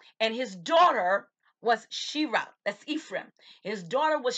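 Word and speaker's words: Sherah: This is a woman by the name of Shira. Shira is S-H-E-R-A-H, and sometimes spelled with two E's, S-H-E-E-R-A-H.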